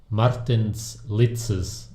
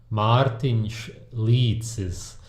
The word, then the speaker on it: Martins Licis: Today we're going to be looking at a guy called Martins Licis. I'm just kidding. It's a Martins Licis. The reason I'm probably one of the only people online who can pronounce his name correctly is because we are from the same country, Latvia.